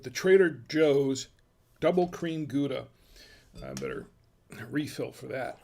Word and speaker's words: Gouda: And yeah, I know they do pronounce it Howda, but not here in the U.S. It's pronounced Gouda.